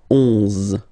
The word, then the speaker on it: onze: 11, okay, so O plus N give you the sound on, onze, onze, okay, final E doesn't exist phonetically, onze, okay, douze, douze,